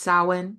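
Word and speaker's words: Samhain: remember it looks like Sam Hayne but it's pronounced sin last year but we're going to do more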